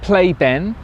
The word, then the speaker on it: Pleyben: better than it has been we've stopped at play been now of course pronunciations nowhere ple ybn right we stopped here